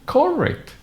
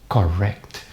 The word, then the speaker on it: correct: Most of my students, even in advanced levels, they say correct. Why do you pronounce correct? It is pronounced correct.